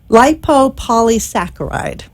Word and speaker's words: lipopolysaccharide: There is a bacteria, and I will attempt to pronounce this. It's actually not too bad. It's lipopolysaccharide.